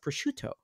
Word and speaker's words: prosciutto: It's obviously pronounced prosciutto.